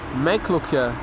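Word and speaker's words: Meiklokje: Meikklokje? Meikklokje. That's how you pronounce that name.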